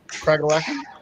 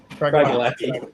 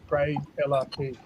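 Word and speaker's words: Craigellachie: the best way I hear this pronounced is Cragalacky, and I quite like that. Cragalacky. Yeah, it's if you ever want to remember the name, it's Craig gave Ella the key. So Craig Ella key.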